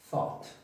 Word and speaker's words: thought: fácil de entender, thought, porque esta Z no la vamos a ver como la Z del español latinoamericano, sino como la Z del español españolete, ¿okay?